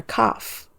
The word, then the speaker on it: cough: The doctor gave her some medicine for her cough. So the GH here is pronounced as the F sound.